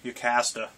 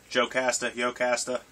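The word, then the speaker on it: Jocasta: Love Ultron's bride, Yocasta. Yocasta. I always used the J as a Y.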